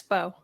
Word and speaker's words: Beau: Beau, is that Bo? Yeah, it's Bo.